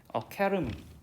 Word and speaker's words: academy: 이거 학원이란 뜻의 단어인데 100이면 100 여러분들이 아카데미라고 읽어요. 그쵸? 근데 여러분들 실제로 이거 원어민들은 어떻게 읽어? 어카데미 이렇게 읽어.